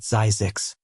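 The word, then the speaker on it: Zzyzx: "This is Zizix," they said, pronouncing it Zazix.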